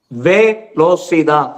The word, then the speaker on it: Velocidad: Velocidad.